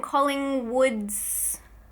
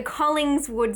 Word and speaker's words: Collingswood: think I said no I said it wrong I'm Collingswood story the Collingswood story sorry there's no famous place in Australia called Collingwood so I feel like I just automatically say it like that but it's Collingswood anyway it is about a